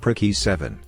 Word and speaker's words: PRC-E7: guy to get the PRC-E7, pronounced prick E7, from the platoon sergeant, whose rank was also known as E7.